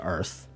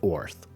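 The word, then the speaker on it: Oerth: this up now that the name of the planet in the Gray Hawk setting is pronounced Earth although some say orth and apparently they're not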